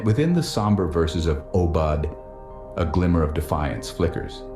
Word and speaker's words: Aubade: They mispronounced Aubade. Aubard. Yes.